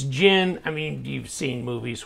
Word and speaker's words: Djinn: Like, I used to say Djinn or whatever, but it's Djinn. I mean, you've seen movies where the magic being, it's a Djinn, right? And so the D is silent, but here it is.